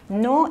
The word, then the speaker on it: Noh: No is spelled N-O-H.